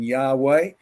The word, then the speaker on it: Yahweh: So when you see those 4 letters, the JWHW, is the J pronounced as a I or a Y, as in Yahweh? But up to the 1900s, most people in the West pronounced it J.